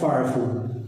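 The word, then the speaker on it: فاعف: ഉഅഫുവിൻ്റെ മുമ്പ് ഫാ ചേർന്നപ്പോൾ ഫഅഫു. ഇവിടെ നേരത്തെ പറഞ്ഞതുപോലെ ചേർത്ത് ഉച്ചരിക്കുമ്പോൾ കളയപ്പെടുന്ന ഹംസയാണ്, ഹംസത്തുൽ വസ്ലാണ്. അവിടെ ഹംസ ഉച്ചരിക്കേണ്ടതില്ല. എഴുത്തിൽ അലിഫ് കാണും, പക്ഷേ ഉച്ചാരണത്തിൽ അലിഫ് ഉണ്ടാവുകയില്ല.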